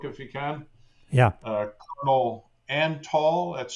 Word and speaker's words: Antal: Colonel Antal. That's spelled A, N as in Nancy, T as in Tango, A as in Alpha, L as in Lima.